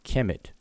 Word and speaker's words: Kem: not call their kingdom Kemet until the 11th dynasty. The word Kemet, several different words of Kem that we would transliterate as KM and pronounce Kem, existed in language from the beginning.